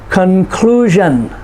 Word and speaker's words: conclusion: Conclusion, next to the last syllable. Television. So we say, what is the conclusion? Conclusion, clue. There's the emphasis, the stress on that syllable.